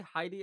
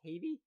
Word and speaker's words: Haiti: is in Heidi Haiti they say Heidi in the movie but I I've only ever heard it pronounced Haiti so I'm gonna go with Haiti because right if someone's